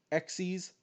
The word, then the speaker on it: Xyz: uh i have syncro xe's and yeah i know it's pronounced sexy is not xyz even though it's just xyz and link monsters the fourth